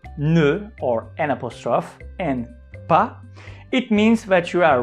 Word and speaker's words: pas: pronunciation of the word we don't pronounce letter s at the end it's it's not pass because it will it